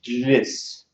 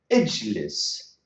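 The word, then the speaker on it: اجلس: We have the jim and lam, two consonants together. The Arabs cannot pronounce jlis. So to sort out this problem, to solve this problem, these phonetic problems, they said we can put what you call it conjunctive hamza. Ijlis, ijlis.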